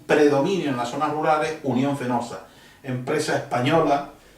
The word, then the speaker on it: Unión Fenosa: en las zonas Rurales Unión fenosa empresa española ellos apenas pronuncian la p en la F y le llaman Unión penosa con acierto porque es